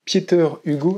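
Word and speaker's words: Pieter Hugo: vous qui onuront viné qu' on parlait de pietter Hugo alors pas Pieter pietter Hugo c'est important et pour une fois je sa prononcé son nom on va parler de deux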